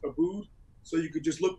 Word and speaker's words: Aboud: basically my first name it's a bo u D it's pronounced Abood so you could just